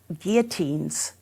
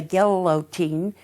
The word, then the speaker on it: guillotine: he instituted guillotines um it has two L's for those people in the midwest who say get a lotine uh when you have two L's you pronounced as a y not that it's a big deal I'm just saying as you talk to your friends it's guillotine he put them all over